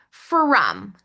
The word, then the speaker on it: from: From. Er, That O is pronounced with a short U sound, not the short O sound. So it's breaking the rules.